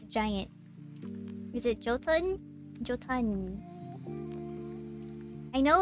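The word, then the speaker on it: jötunn: it but i know it's giant is it jotun i know it's giant right i don't i don't know how to pronounce that word properly big tara hey tyranno how's it going yotan ah okay that makes sense uh yo yo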